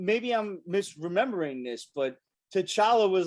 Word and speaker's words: T'Challa: i'm misremembering this but t'challa was like no it's the t is silent it's just challah that you know you forget the the apostrophe and everything i was like